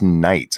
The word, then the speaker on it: Nights: That is Stargazer Nuts, by the way. I mispronounced his name like for 6 months or something like that until somebody finally went, "That's Nights," and I'm like, "Fuck it, it's Nuts now."